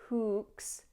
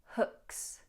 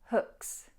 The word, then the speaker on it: hooks: The only pronunciation pointer I would give here is not to lengthen the double O. Hooks. It's not hooks, but hook, hook, hooks, hooks.